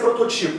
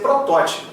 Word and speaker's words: protótipo: Então não pode ser arquetipo, tem que ser, não pode ser prototipo, tem que ser protótipo, tem que ser arquétipo, tem que ser lévedo.